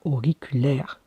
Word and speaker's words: auriculaire: Je ferai par syllabe, même si certains ne sont pas d'accord, mais O qui s'écrit AU, RI qui s'écrit RI, Q qui s'écrit CU, LAI qui s'écrit LAI, c'est pour ça qu'on dit accent grave, et tout ça je vous le ferai sur des feuilles, sur un tableau, et RE, la dernière syllabe, sans oublier le E, et c'est pour ça